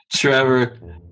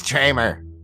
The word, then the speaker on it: Tramer: losing his damn mind Trevor do you uh it's tramer tramer tramer tramer I had your name wrong the whole time well give him a